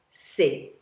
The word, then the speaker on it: ces: it's masculine or feminine, you always use the demonstrative adjective ces, and it's spelled C-E-S.